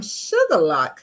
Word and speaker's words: Shuqualak: I am from Sugar Lock, Mississippi. Most people would think that's spelled sugar and lock, but no, it's not. It's spelled SHUQUALAK.